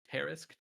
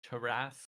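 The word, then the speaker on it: Tarrasque: Terrisk, Terrasque, Terisque.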